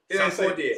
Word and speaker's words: Sarkodie: Sarkodie.